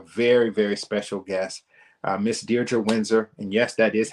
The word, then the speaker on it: Diedre Windsor: And this week, I'm bringing to you a very, very special guest, Miss Diedre Windsor. And yes, that is how you pronounce her name.